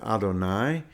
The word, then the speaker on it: Adonai: Shema and other prayers we pronounce that word Adonai it's spelled with the